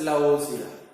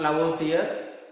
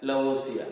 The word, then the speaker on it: Lavoisier: Pronounced as Lavoisier. Not Lavoisier, Lavoisier.